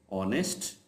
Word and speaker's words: ऑनेस्ट: नहीं हैट hat hand how ever in अ few words as is silent जब एज के बाद vowel ओ आ रहा होगा तो फिर वो एज साइलेंट होगा आवर ऑनेस्ट honour honourable ऑनेस्टी सो